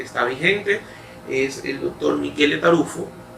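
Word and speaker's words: Michele Taruffo: vigente, es el doctor Michele Tarufo. Generalmente usted lo va a conocer como Miguel Tarufo, pero es italiano, esa es la pronunciación de su nombre.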